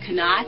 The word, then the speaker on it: Knot: Knot?